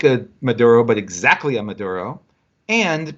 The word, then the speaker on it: Maduro: And Maduro is Maduro. Like the banana. Like the banana. Like so the ripe banana. He's named Maduro, not like a Maduro, but exactly a Maduro.